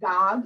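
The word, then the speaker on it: Gág: then this one is wanda gog is how you say her name she would often correct people people would want to say gag and she says rhymes with job not bad so it's bob is how you say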